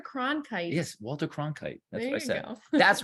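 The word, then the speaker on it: Cronkite: you can totally incorrectly Walter con I can't not saying it right my brain is really Walter KRON kite yes Walter KRON kite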